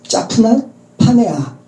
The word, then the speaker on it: 사브낫 바네아: 애굽어 발음을 히브리어로 음역한 것이 짜프낫 파네아. 근데 이 짜프낫 파네아를 우리말로 또 음역을 해서 사브낫 바네아로 음역을 한 거죠.